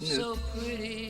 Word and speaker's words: Knut: There's this one streamer, his name is KNUT, which is pronounced Newt, I believe. Not Groot, but Newt.